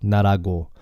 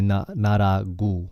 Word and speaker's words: 나라고: 나라고. But then in Seoul, a lot of people say 나라구.